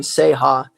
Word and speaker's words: Ceja: So, and then Seha. Uh, it's spelled C E J A. So, it's spelled different than how it sounds.